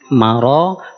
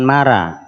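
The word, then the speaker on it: مرض: ujung tu dari maradu Maro Maro bukan marah Alan langsung ke nunnya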